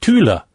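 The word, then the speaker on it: Thule: I mean I wasn't actually sure but you call it Tula.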